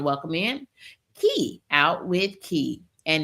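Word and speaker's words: Kie: We want to welcome in Key out with key and it's key pronounced like the word ke y but spelled K I E.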